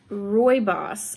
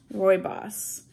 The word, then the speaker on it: rooibos: our herbal tea and it is chocolate mint roy boss i just learned how to say it correctly roy boss um so chocolate all right oh no